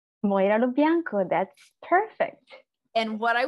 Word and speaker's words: Moira Lo Bianco: Moira Lo Bianco.